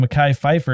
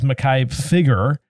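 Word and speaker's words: Mekhi Phifer: number of years uh Sharif Atkins uh this is spelled wrong it's supposed to be Makai Pfeiffer it says Makai figure befiger Makai Piper he sounds familiar inaugura Linda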